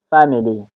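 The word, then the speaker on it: family: توضیح خواهم داد اینجا استرس روی حرف اف هست یا هجای اول فمیلی فمیلی استریس یعنی صدا به شدت و بلند تلفظ میشه فمیلی فمیلی اینجا اینجا هم حرف ا این حرف ا ا خوانده می‌شود.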